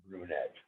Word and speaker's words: Brunet: a veteran lefty and i gotta correct you on your pronunciation of his name okay martin his name is george stewart brunette ah okay yes that's